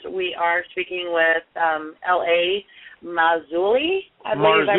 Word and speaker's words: Marzulli: Marzulli. I believe I pronounced that correctly. Yes. Marzulli.